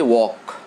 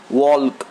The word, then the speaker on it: walk: But in all these words, the L is silent. We don't pronounce L. We don't say could, we don't say would, we don't say walk, we don't say talk, but we say walk, talk, could, would.